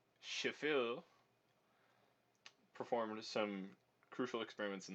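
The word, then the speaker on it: Schaeffer: different timbre the auburn composer pronounced chauffeur using your best imitation of a french accent shephel performed some crucial experiments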